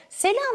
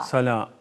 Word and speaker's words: Salâ: mı Hep tereddütte kalıyor Sala Sala Sala Arapça'da sa harfi kalın harf peki sela dediğimiz zaman yanlış mı demiş oluyoruz sela Sala Kelimeyi yanlış telaffuz ediyorsunuz Sala Tabii Sala Sala Arapçada sat sin Peltek 3 tane s var Hı hı e oradaki kalın olan sat harfi Sala sa Peki salada